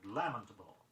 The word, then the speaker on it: lamentable: Be sure you accent the first syllable in the word lamentable.